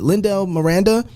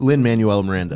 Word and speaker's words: Lin-Manuel Miranda: so you can see the beauty of it lindell miranda he has done that so many times so well who's up lin-manuel miranda thank you i said it wrong mike glendale